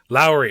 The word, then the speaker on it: Lowry: This week, I am incredibly excited to be joined by the wonderful Chris Lowry, or is it pronounced Lowry? I want to make sure I get that right. Lowry, okay.